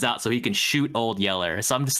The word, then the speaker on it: Old Yeller: by the way that's that's why his he's called old yeller it's because he's literally yellow yeah and that's how they say it in texas and he's like there's